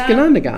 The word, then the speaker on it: Ganondagan: It's Ganondagan. Ganondagan. Ganonda, and you just throw a gon at the end.